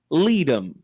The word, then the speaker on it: Leadham: Leadham is spelled like freedom. Leadham.